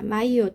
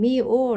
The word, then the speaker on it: myo: " 미오 " 또는 " 묘 " 라고 발음 할 수 있다 고 말씀 드렸습니다 .